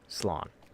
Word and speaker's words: Slán: So instead, I will just say goodbye, which in Irish is Slán. S-L-A with the little line, the fada, N. So S-L-A-W, not A-W. S-L-A-N. It's pronounced with the W in there, so Slán.